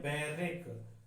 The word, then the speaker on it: barrack: हैं उसे कहते हैं बैरक। BARRACK, बार रैक। ऐसे देखो, बार रैक, बैरक बोलते हैं उसे। क्या बोलते हैं? बैरक।